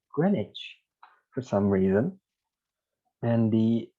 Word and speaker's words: Greenwich: are from america uh you would also said greenwich too i guess but it actually pronounced as greenwich like a vowel the e vowel is dropped and w is not said it's like greenwich for some reason and